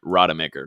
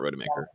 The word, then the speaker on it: Rademaker: to say his name right rademaker not rotomaker well you segued into